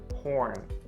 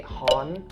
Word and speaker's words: horn: to pronounce it correctly, you need to enunciate the R sound, so horn. Please don't say hon.